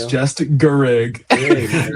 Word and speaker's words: Garrigue: Can you just say your last name so that people can just get it right? It's just Garrigue. Garrigue. Garrigue. Garrigue. There you It's go. just Garrigue.